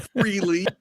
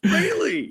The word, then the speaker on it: Frehley: on this show kids it's not fre yeah it's Frey I know I don't even know where that came from I think freely just sounds more common but yeah it's Frey I have a quick